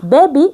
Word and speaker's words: baby: We don't say B-A, B-E, baby. No, it's baby because it has an open syllable. The first part ends with a vowel. Let's clap the word baby. Baby. Two syllables. Be, that means it ends with a vowel, so the vowel says its name.